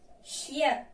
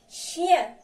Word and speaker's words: chien: يعني عندنا هنا CH chien. يعني كتلاحظوا هنا علاش ما قلناش شيون، لحقاش قبل منها هذه EN كتقرا يا بحال شيان.